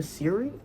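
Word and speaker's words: Serle: Lastly, on my Kindle TBR, I have One Italian Summer by Rebecca Siri, I believe is how you say her last name.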